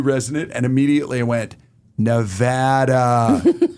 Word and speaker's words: Nevada: You said new resident, and immediately I went, Nevada. Not Nevada. Nevada. Well, that's how you say it in Spanish.